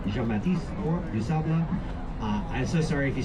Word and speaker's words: Du Sable: A person named Jean-Baptiste Point du Sable. Jean-Baptiste Point du Sable. I'm so sorry if you speak French. I'm working on it. But in Chicago, his name is always pronounced Du Sable by locals.